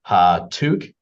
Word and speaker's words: Hatuk: my name is hatuk um I always tell people the easiest way to remember how to pronounce my last name is to think of it like you're sneezing ha toque and it's a very